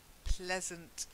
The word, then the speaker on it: pleasant: words first okay so the first one is pleasant I never say to please but this is from Pleasant is like pleasure okay so pleasant try it that's it so you got pleasure and pleasant but please okay then octopus oh yes